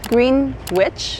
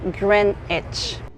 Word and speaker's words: Greenwich: So maybe if you're not a native English speaker like myself, you will think it's Greenwich, and it's actually pronounced Greenwich.